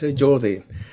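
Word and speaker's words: Jordi: well my name is Jordy if you want to pronounce it in the Catalan way it's Jordy uh I I was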